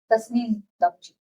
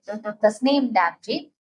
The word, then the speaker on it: Tasneem Damji: And I'm here with someone who is going to pronounce her name properly, and I'm going to follow it. Tasneem Damji. Damji. See, I followed it right. Tasneem Damji.